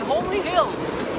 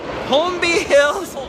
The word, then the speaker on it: Holmby Hills: old home in Homely Hills. Not Homely Hills. Holmby Hills. Right.